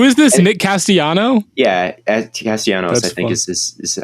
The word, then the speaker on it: Castellanos: No, Castellanos is the guy who that's a drive deep into left field.